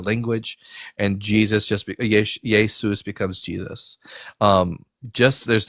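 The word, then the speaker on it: Ἰησοῦς: There's no sh sound in Greek. Um you The closest you can get to it is an s sound with the letter sigma. So, you get iota, eta, um uh sigma, omicron, upsilon, you get Yesou. But in order to make it masculine, it has to end with a sigma the letter sigma. So, it becomes Yesous.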